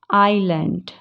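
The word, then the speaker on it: island: जब वो एल के बाद होता है, जैसे उसके जब एस पहले है, जैसे आइल, आइलैंड, एल। समझ रहे हैं आप? एस साइलेंट है जब इसके पहले एस है, ठीक है।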